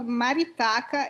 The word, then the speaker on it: Maritaka: uh uh what's the proper way to provide pronounce the name of the company maritaka yeah in portuguese it's called maritaka it's a bird it's that colorful bird like